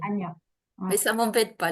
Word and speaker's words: Anja: Donc, ça s'écrit, beaucoup de Français le prononcent Anja, mais ça se prononce Non, c'est Anya. Anya.